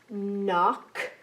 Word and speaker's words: knock: to be in silent in all of them knock know melt knife knee kneel it's now time